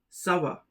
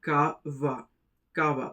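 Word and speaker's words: ça va: The first is a very common one and it is pronounced as savva sava. It means how's it going. If you remove the si it becomes kava kava which has no meaning.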